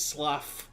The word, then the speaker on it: slough: It's slough.